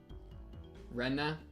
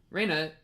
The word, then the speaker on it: Rena: Rena is how they currently pronounce it. Raina is pronounced how you were pronouncing it. Oh, so I've been like dead naming her this entire time. Rena.